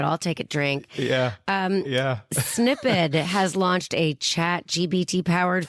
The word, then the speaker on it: Snipd: You can join the waitlist on the Snippet website, and that, by the way, is spelled SNIPD.